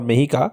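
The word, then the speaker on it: Mexica: So Mexico or Mehika was the name that the Aztecs called themselves.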